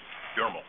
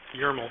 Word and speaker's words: Yarmel: Carol Yarmel, did I pronounce that correctly? Yarmel. Yarmel, thank you, of 19 Ocean Ave.